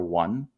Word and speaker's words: one: You used to say like, I saw one man, but you didn't pronounce it one at the time. At the time it was pronounced on man.